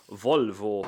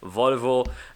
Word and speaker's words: Volvo: you keep saying Luca you're saying Volvo wrong it is Volvo and not Volvo well full vote is Dutch and that's why I'm saying it but few guys